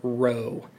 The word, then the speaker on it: rho: abbreviation for density is the Greek letter row that's spelled rho so this Greek letter